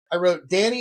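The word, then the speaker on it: Dani: So I wrote in there, Danny is pronounced D-A-N-N-Y.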